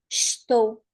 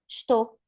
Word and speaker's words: estou: We can cut the first syllable completely. So in the end, we just have to, to, to.